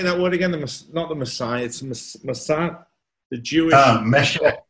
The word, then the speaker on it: Mashiach: Mashiach. Mashiach.